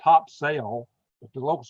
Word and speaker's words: Topsail: Topsail, they call it Topsail, but it's spelled Topsail, but the locals call it Topsail Beach.